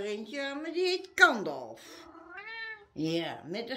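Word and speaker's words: Gandalf: aan, maar die heet Kandolf. Ja, met een G. Hè? Ja, G-A-N-D-A-L-F. Ja, Kandolf. En dat spreek je gewoon uit als een harde K. Maar het is een G waar je het mee schrijft.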